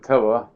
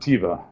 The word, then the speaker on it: Teva: And by the way, it's pronounced Teva, not Tiva.